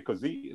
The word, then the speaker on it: COSI: what is K and I say it kzy like an Italian with a little Accent on the end which is just so